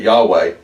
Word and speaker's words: Yahweh: name attached to it which is sometimes mispronounced but all this Parral pronounced like that Yahweh it's not quite pronounced